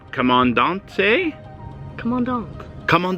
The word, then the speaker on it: Comandante: are reviewing the commandant but Jack said is pronounced I said right come on Dante come on down come